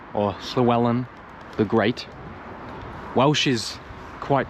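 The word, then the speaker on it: Llywelyn: the Welsh were like Llewellyn or Slewellan the Great. Welsh is quite tricky. When there's a double L, it's like pronounced, which is hard for me to do. So, Slwellen the Great.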